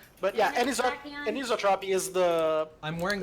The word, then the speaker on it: anisotropy: The lore In books refer turn- to that as anisotropy. Anisotropy? How do you pronounce that? Anisotropy.